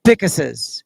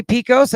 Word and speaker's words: Pickus: Her mentors are her dad, of course, Lyman, Seth, and all the Pickuses. Some people say Picos. I believe the correct pronunciation is Pickus.